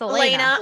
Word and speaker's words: Elena: here on the show, Alana. And I said your name wrong, didn't I? It's Elena. Alana. I know, it's so frustrating because it's spelled Alana. It's spelled and wrong.